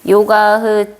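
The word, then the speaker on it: योगः: 요가의 정의, 요가 S가 아니라 H인 것 같은데 S가 아니라 H인데 이놈 새끼 왜 그랬어? 요가흐 찌따 브리띠 리로다하라고 읽어요.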